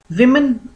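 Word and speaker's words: women: विमन beware विमन, इसका pronunciation जो है वो विमन होगा।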